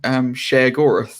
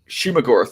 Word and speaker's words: Shumagorath: So my speculation on it was immediately when I saw it was like, oh, are they doing Sheogorath or whatever however you pronounce the name? Shumagorath. Shumagorath, that's it.